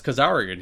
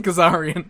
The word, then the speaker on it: Kazarian: Oh, it's Kazarian here. Yeah. Like, and then, like, because Erik Watts is in the same segment, and he calls him Kazarian.